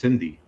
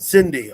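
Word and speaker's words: Sindhi: It's pronounced like with a C, but it's with an S. Exactly. Yeah, I got it. Cindy.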